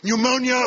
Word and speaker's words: pneumonia: on in the water pneumonia we know the p is silent as indeed it is